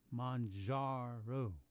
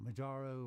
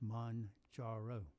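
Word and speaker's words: Mounjaro: It's pronounced Manjaro. Not Manjaro or anything else, just Manjaro.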